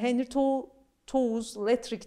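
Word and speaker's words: Henri de Toulouse-Lautrec: O da Henry Toews Lettrick diye okunuyor bildiğim kadarıyla.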